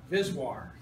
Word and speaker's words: VSWR: is called vswr and I want everybody in here say it like a man visir visir I had students who